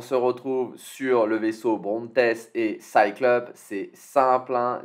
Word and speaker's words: Brontes: Arme cinétique plus 3% pour le Brontes, je ne sais pas, on le prononce comme Bront, tout simplement à la française.